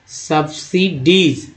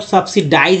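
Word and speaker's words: subsidies: The high MSP सब्सिडीज, अब कितना लोग सब्सिडाइज भी बोल देते हैं, सब्सिडाइज। अब भाई उनको क्या कहा जाए जो इस तरह से उच्चारण करते हैं सब्सिडीज को, सब्सिडाइज, वो जाने।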